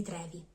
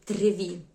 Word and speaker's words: Trevi: Una delle più famose e più prestigiose è la Fontana di Trevi. Attenzione a non chiamarla Fontana di Trevi, è un accento molto frequente, ma si dice Fontana di Trevi.